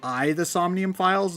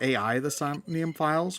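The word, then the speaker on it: AI: The Somnium Files: Once I finish that, my plan is to start playing I I only just learned that it's pronounced I the Somnium Files, not AI the Somnium Files, which is weird to me.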